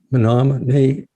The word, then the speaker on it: Menominee: enrolled member of the nominee and am i pronouncing that correctly yeah that's correct menomonie indian tribe of wisconsin and you're offering mindfulness